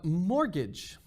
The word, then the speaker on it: mortgage: might hurt we have mortgage the t is silent because it's a french word mol means like dead in french and if you know spanish you might know the word muerte dead as well so all right in